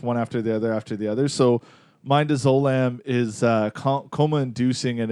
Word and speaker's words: midazolam: But coma is induced by another separate drug called midazolam. I'm butchering pronunciation.